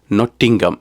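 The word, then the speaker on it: Nottingham: ஊர் அதுதான் இது அதுதான் நொட்டிங்கம் எனவே நான் பெர்மிங்கம்ல பட்ட அனுபவத்தால இதை ஹாம் என்றெல்லாம் சொல்லாமல் நொட்டிங்கம் என்று சொன்னேன் அது சரியா வந்துட்டது பிரச்சனை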